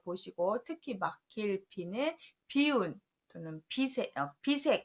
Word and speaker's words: 비운: 거 할 때 쓰는데 발음을 바꿔서 비라고 합니다. 그래서 안일부, 막힐 비는 쓰임 단어들을 잘 보시고, 특히 막힐 비는 비운 또는 비색 할 때 이렇게 쓰는 단어예요.